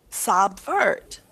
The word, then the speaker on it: subvert: What vowel sound do you hear in the first syllable? Sub. Short O. What's a short O? What is the short O sound? Ah, Sa. Subvert. Subvert. Does that sound natural? no. No. How can a U make a short O sound? When does that ever happen? Oh. Never. So what sound do you hear here in sub? Schwa. Yeah, short U or schwa.